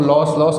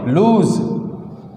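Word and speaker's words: lose: Trees लूज, अब देखिए इसका प्रोनाउंसिएशन स्टूडेंट, आप लोग इसको लॉस करते हो, ये लॉस नहीं है, लूज।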